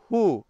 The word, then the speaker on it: who: সো যেমন হু, WHO হু, হু মানে কে বা কারা। হুম, WHOM হুম, হুম মানে কাকে। এরকমের কিছু ওয়ার্ডস আমাদেরকে কমেন্ট সেকশনে লিখে খুব দ্রুত জানিয়ে দিন যেখানে ডাব্লিউ সাইলেন্ট থাকবে এবং ডাব্লিউর পরে এইচ এবং আর রয়েছে।